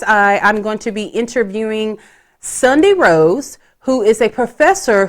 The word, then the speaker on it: Sundi: I'm like, is it Sunday? Kind of like the Sunday that you eat. Is it Sundi? And then James was like, oh no, I think it's Sunday. And I'm like, I don't feel like that's how you say it. So we were wrong. It's Sundi.